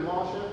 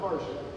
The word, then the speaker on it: Masha: Her mom named her Masha, not Marsha. So we want everybody to learn how to say it right.